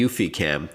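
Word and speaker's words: eufyCam: to do that with the UfiCam, which is spelled EUFY cam.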